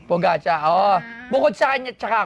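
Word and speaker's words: Pogačar: poach si pogi Oo the pronounce it pogaca kasi po gacha Oo Bukod sa kanya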